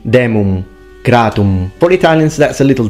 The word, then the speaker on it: demum gratum: He fully pronounces the M, demum gratum. It should be demum gratum.